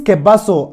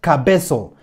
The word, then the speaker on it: Kebaso: people had to say Munda say that pronounce keaso and not Cabo leave the wrong pronunciations to the foreigners priest Nina said that report properly the name is keaso m w14 said that it is keaso and no Cabo really okay Mora kabaso